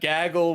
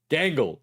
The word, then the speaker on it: Gangle: him to know that Gaggle was white the whole time. Gangle. Gangle. Excuse me. Sorry. No, I don't want spoilers. Yeah. Yeah. I mean Gangle, not Gaggle.